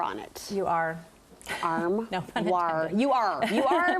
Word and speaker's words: armoire: I would say that armoire. Actually, it's not armoire, it's okay. armoire. Armoire. You do pronounce the R. There is an R.